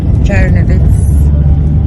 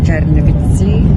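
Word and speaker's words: Чернівці: This is the town of Chernovitz, or locally pronounced Chernovitsi.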